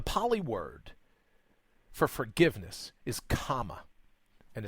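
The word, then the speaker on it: khama: word for forgiveness is comma and it's spelled KH am a not a common on a comm a but comma which also means the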